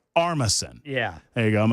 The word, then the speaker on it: Armisen: I mean, I'm a big fan of, I can never pronounce his last name. Fred Armisen. Armisen.